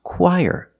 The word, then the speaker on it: choir: When we link the qu and the there's a sound in the middle that is y. The sound y like yellow y. Let's link the sounds. Y ch together. Choir. Put the stress on the first syllable. Choir. This word is pronounced choir. That's crazy.